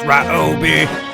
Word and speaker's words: Ryobi: I say Ryobi, Cop Tool says Ryobi. Cop Tool is wrong because it's pronounced Ryobi.